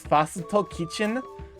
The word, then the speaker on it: First Kitchen: or just First Kitchen, which pronounced in Japanese is Fasito Kitchen, so short form becomes Fakin.